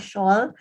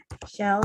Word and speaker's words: shall: you pick out what will would can good pronunciation okay not shawl shall shoot me must and might okay when